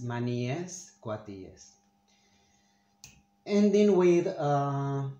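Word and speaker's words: maníes: i say this because even native spanish spanish speakers say manises it's wrong the correct way to say it is money yes yes ending with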